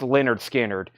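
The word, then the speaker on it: Lynyrd Skynyrd: then the very popular Leonard skinnard pronounced Leonard skinnard $64.99 for pronounced Leonard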